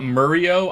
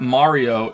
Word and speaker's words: Mario: But it's not Murio. I'm not even American. Who says Murio? No, who the fuck pronounces his name Murio? I think the only one in the games that says it Mario is Peach, right?